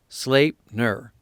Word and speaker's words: Sleipnir: Thus, when going to war, it is on the back of his 8-legged horse, Sleipnir, pronounced Sleipnir.